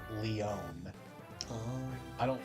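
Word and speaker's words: Lyon: I've always pronounced this lion but I I learned the other day through hearing it in Heroes it's pronounced Leon oh I don't like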